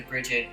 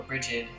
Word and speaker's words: Brigid: In Norse mythology, many came to Bridget, or Brigid, however you want to pronounce it, for her immortal apples that gave warriors strength, in her cauldron of immortality that never ran out.